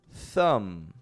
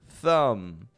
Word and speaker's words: thumb: at someone else's your thumb is spelled t h u m b i don't pronounce that B that b does not come out thumb thumb another comb